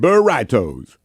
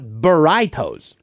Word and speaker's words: burritos: Oh man, I love me some burritos. Burriitos. I I think you mean burritos. That's what I said. Britos, Felix, it's pronounced burritos, not bertos.